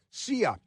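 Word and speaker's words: Cea: It's it's spelled letter C, letter E, letter A. CIA.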